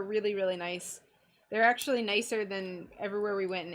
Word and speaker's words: Nice: Marseille, we went to Nice. It's spelled nice, but I think it's pronounced Nice.